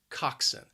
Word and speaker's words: coxswain: person is the coxswain it has two syllables and the stress is on that first syllable again that second syllable can be a bit confusing has that schwa even though the spelling just does not look like that at all coxson i wrote crew at